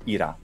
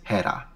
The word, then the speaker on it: Hera: classical attic pronunciation and modern Greeks pronounced that name as Ira once it becomes an e and the aspiration of is lost lost you said it's Hera that's right and what